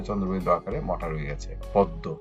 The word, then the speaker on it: পদ্ম: পদ্ম, এখানেও মোটা উচ্চারণ হয়নি, এখানে চন্দ্রবিন্দু আকারে রয়ে গেছে।